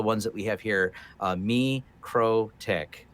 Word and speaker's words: MikroTik: that we have here me crow tick isn't like me the crow and a little tick so we're gonna draw